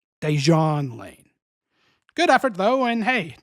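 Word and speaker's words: Dejuan Lane: Right Guard this season number three deson lane actually non-union voiceover guy who refused to re-record for us that's pronounced dejan l L dejon Lane good effort though and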